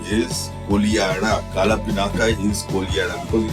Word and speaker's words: Kodihara: The village is Kolihara, written Kodihara but pronounced Kolihara, and the colony was Karhara because of the wailing.